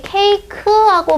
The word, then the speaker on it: 케이크: 이게 케이크하고 발음이 돼서요. 얘가 짧은 모음이 아니라 긴 모음입니다.